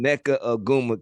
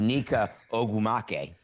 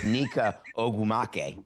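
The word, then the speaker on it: Nneka Ogwumike: But when I watched that, it made me think of David Samson pronouncing Neca Aguma K.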